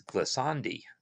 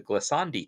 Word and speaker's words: glissandi: the ability for uh these glasandi uh yeah i'm pronouncing it in italian um the the the glissandi to affect the playback